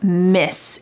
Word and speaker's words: Ms.: So they want to just use the form Miss. It sounds the same as MISS, but it's spelled MS, Miss Vanessa.